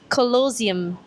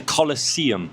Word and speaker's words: Colosseum: The next one is colossium in in Italy. Am I correct? That's why I need Can you uh pronounce that again for me, please? The Colossium. It's the Colosseum.